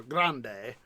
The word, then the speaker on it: Grande: DNRGW Denver and Rio Grand Western or Grande if you want to be more accurate with the uh phonetic pronunciation with grande being grand in Spanish but he called it the Santa Grande.